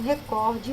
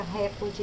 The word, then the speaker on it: recorde: A gente tem a mania de dizer recorde. A pronúncia recorde é do inglês. A pronúncia no português é recorde, porque ela não tem acento.